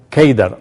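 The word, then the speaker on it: Kedar: de Cedar en árabe la palabra Cedar se pronuncia keidar o se escribe keidar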